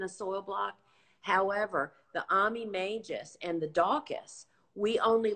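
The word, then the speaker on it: majus: I always mispronounce. Magus.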